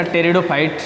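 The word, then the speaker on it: pteridophytes: है तीसरा ऑप्शन है इसका टेरिडोफाइट्स मैं इसमें पी साइलेंट रहेगा टेस्टर फाइट है क्योंकि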